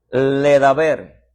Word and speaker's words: ledaber: La raíz de Dabar se pronuncia Ledaber.